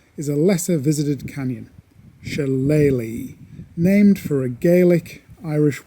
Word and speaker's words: Shillelagh: Challe is the Gaelic pronunciation.